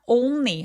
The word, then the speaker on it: only: 자, only 할 때 온니 온니 아니에요. 오우까지 굉장히 또렷하게 어우 입술 우까지 내밀어 주시고요. N과 l은 다 또렷하게 발음해 주셔야 돼요. 우리나라 말처럼 어 자음 동화가 여기서는 일어나지 않거든요.